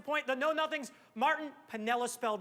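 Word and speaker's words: Piniella: throughout the 1950s and Pinella notice I said spelling counts there's an unpronounced i after the end had they do Girardi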